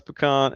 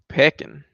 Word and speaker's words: pecan: You could pronounce pecan as peckin.